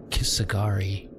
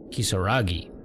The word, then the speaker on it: Kisaragi: Kisagari. I'm at Kisagari. Kisaragi.